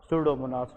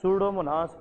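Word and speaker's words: Pseudomonas: Bacteria involve होती है that is called सूडोमोनास। ठीक है, इसमें पी साइलेंट है, तो दैट इज़ कॉल्ड सूडोमोनास एरोजिनोसा।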